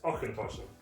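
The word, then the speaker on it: Auchentoshan: It's Auchentoshen. Auchentoshen. Okay. Auchentoshen. Auchentoshen. Okay, I see that. Auchentoshen.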